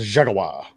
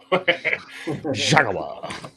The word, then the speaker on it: Jaguar: Or excuse me, I got to say it like Top Gear says it. The Jaguar. Jaguar.